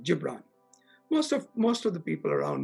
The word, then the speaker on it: Khalil Gibran: It's a Middle Eastern philosopher called Khalil Gibran. It's spelled Khalil, K-H-L-I-L-G-I-B-R-A-N is his last name, Gibran.